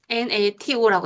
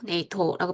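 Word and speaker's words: NATO: 나사. 네이토 등은 영어의 음소 배열에 부합되기 때문에 하나의 단어로 발음해요. 그래서 nas라고 안 하고 나사, nat라고 안 하고 네이토라고 발음한다는 거죠.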